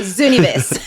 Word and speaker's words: Zooniverse: Zoo as in the zoo and niverse without the U, so Zooniverse.